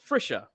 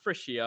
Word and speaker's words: Frisha: Then we got John Frisha. I was trying to figure out. I almost said it wrong again, but I was like, no, it's Frisha, not Frisia or whatever I used to say.